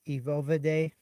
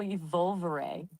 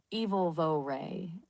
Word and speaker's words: evolvere: It's evil vo ray. Emphasis on the E sound at the start and the soft eight at the end.